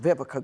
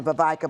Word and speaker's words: Vivica: call me because nobody pronounced Vivica growing up. They called me Vavika Vavisha. They just, you messed up my name, girl.